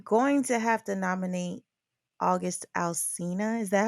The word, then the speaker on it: August Alsina: I'm going to have to nominate August Alsina.